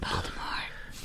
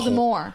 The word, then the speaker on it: Voldemort: Voldemort. No. Oh, I should other correct. one. I said it wrong. The real Voldemort. The real The T is not horror. pronounced because it's French. The real Voldemort.